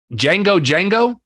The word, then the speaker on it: Django Django: of their names uh Django Django the D is silent with off-planet Government Mule